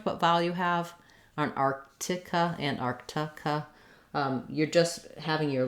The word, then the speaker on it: Arctic: Sort of figure out where your error may be, like mine was on missing that K and missing that T.